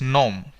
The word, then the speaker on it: gnome: first word here is nom nom means dwarf okay g is silent here no means dwarf gnome